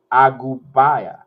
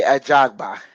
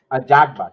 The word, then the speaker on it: Ajagba: there, and it was Frank Sanchez versus Ife Agubaya. Nah, F.A. Ajagba. Ajagba. See, I pronounce it, guys.